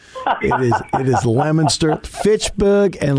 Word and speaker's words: Leominster: I'm the only host in the country outside of Massachusetts that actually can pronounce it correctly. It is Leominster, Fitchburg, and Leominster.